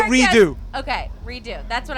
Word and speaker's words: Redux: say redo.